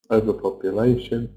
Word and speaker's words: overpopulation: So, like I said, we always stress the syllable before shun. So, pollution, solution, desertification, overpopulation. What can we do about it?